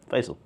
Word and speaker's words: Faisal: many different way yeah p h a y s e l was probably my favorite which if you say it sounds right facal yeah so but F doesn't